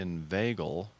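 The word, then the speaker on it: inveigle: definition of it look up okay it is pronounced Ed inv vagal it's a verb persuade someone to do something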